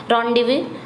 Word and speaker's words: rendezvous: तो correct spelling कौन सी है, यही आपकी करेक्ट स्पेलिंग है, रॉन्डेवू। इसको क्या पढ़ा जाएगा, रॉन्डेवू।